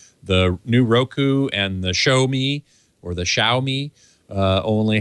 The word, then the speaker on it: Xiaomi: a x i a o m e is pronounced show me that's perfectly that's perfect actually there's a Chinese